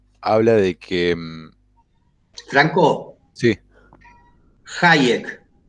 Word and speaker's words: Hayek: Hayek, con J.